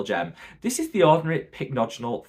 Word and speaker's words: pycnogenol: A while back, I used to call this pycnogenol. Don't know why. If you remember those days, let me know in the comments. But pronounced pycnogenol.